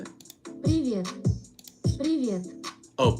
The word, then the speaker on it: привет: Privé or privet? Is that how you say it? Привет. Привет. Oh, privyet.